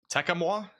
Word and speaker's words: Tecumseh: And somebody put the pronunciation on a super chat. Tecumseh?